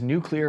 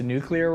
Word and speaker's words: nuclear: to blow up Iran's nuclear facilities he doesn't point out I pronounce nuclear wrong and nuclear that is how you say nuclear it's not nuclear is nuclear as a nucleus I want to say